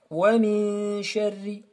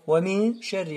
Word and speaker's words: ومن شر: ومن شر. On a parlé de ces deux mots. ومن شر. Alors, on ne prononce pas le nun. On passe directement de min sha.